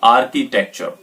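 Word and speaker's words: architecture: इसकी correct pronunciation जो होगी वो होगी आर्किटेक्चर।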